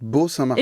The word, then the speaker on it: Bo Saint-Martin: Oui, figure-toi qu'on prononce Beau Saint-Martin. Et bien justement, tu vois, quand je te l'ai dit, j'avais le doute. C'est ok. Tu peux dire BO, je trouve limite c'est plus clair, au moins on sait quoi taper. Quoi. Ouais, exactement. Alors oui, que voilà. le Beau, on pense que c'est BEAU. Mais... Exactement. Donc sachez que c'est beau, mais que ça s'écrit BO.